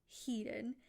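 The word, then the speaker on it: Hedone: And she has multiple pronunciations I've heard, but the most common that I've heard is Heden.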